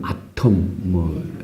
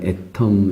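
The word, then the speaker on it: atom: 애터미가 이제 뭐 애텀, 우리 영국식 발음으로는 아톰, 미국식 발음으로는 애텀 이러는데 어떤 물질을 구성하는 근본 아주 작은 그런 뜻이잖아요.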